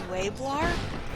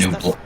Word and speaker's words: Nublar: This one's Isla Nueblar, which is Nublar.